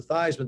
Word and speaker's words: Theismann: dame but we think by just simply changing the pronunciation of your last name from easement to this when to rhyme with eisenman we can get you